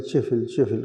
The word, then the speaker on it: ذو الکفل: بھی اسی سے ہے۔ وہ مقامی لہجے میں چفل کہتے ہیں۔ ذو الکفل یعنی نصیب